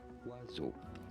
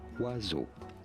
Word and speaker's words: oiseaux: As oiseau. Oiseau. So there is an X at the end. As oiseau. Oiseau. Oiseau. So there is an X at the end, but it is silent.